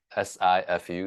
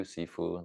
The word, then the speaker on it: Sifu: Yeah, Uh, Sifu, Sifu, the Cantonese kind of pronunciation, Sifu Paul, yeah, Paul, and yeah, Wang.